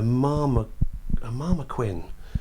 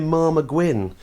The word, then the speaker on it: marmoguin: them on other animals, I mispronounced one of the animals. I called it a marmoquin, and for the last 10 years. People, at least once a week, someone says, by the way, what's a marmoquin? And I wish I'd pronounced it properly. It's supposed to be a marmoguin.